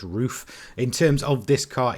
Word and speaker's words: RUF: Up next, we have Haycord, who's got this amazing 1991 Roof RCT. I'm pretty sure that's how you pronounce it. Maybe it's RUF, but I'm pretty sure it's Roof.